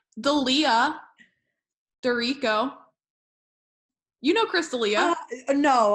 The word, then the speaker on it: D'Erico: It's Dorico. Yeah, which it definitely looks like D'Erico. Yes. D apostrophe Erico. So, and then you're like, D'Erico. It really throws people for a loop.